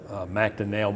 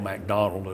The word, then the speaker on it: MacDonell: was with professor herb macdonell mcdonald i've heard it pronounced both ways and he taught it